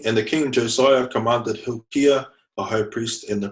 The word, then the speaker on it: Hilkiah: and the King commander he'll Khayyam it's actually pronounced Hilkiah because it's re here on the high priests